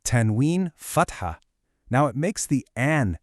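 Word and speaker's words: فتحة: Fat, ha. Notice that very clear T sound, followed by a little breath of air for the H. Let's say it together. Fat, ha.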